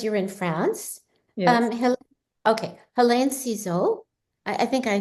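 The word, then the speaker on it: Hélène: Okay, Helene Cixous. I think I say the name wrong.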